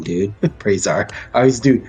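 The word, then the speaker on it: Brahzar: your name wrong dude with praise are I always do b-r-a-h-z-a-r hey whatever bras are I see it that's Brit Bray and then Czar but yeah I'm sure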